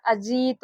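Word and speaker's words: Ajit: ए जे आई टी। देखिए इसको पढ़ेंगे अजीत। यहां पर इसका उच्चारण अजीत होगा।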